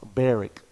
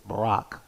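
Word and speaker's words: Barak: army who is uh tim says his name is pronounced barrick but my bible app says it's barack and it's easier for me because barack obama but anyways barrick or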